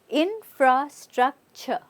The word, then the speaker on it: infrastructure: infrastructure infrastructure right now even though there's a t r e which is T okay we're not saying T we using it as a CH yeah so get this right infrastructure infrastructure infrastructure very good